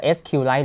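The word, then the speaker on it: SQLite: เดิม อ่า นะ ครับ ก็ อ่าน ได้ สอง อย่าง จะ sq Light หรือ ว่า ซี พูด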